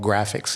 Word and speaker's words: GRAAFICS: I am the founding executive director of a program of a 501c3 called Graphics. It's spelled GRAAFICS.